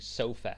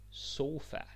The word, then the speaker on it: sofa: sofa now don't fall into the Trap of saying sofa because yeah I know there's the English word sofa as well but don't say that that's very English that's like sofa no no sofa pronunciation is important sofa that's the word wonderful all right stall